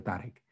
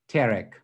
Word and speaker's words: তারেক: বলে হ্যাঁ আমার বাবা এভাবে আমাকে বলে তারেক। কিন্তু ওর যে বান্ধবী ওকে কি বলে? টেরেক।